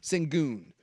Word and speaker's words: Şengün: And they were saying, wait until the playoffs, and by the time you're done, how do you pronounce his name again? Şengün.